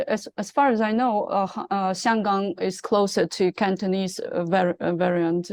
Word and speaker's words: Xianggang: Yes, Hong Kong is Cantonese pronunciation. Xianggang is Mandarin pronunciation.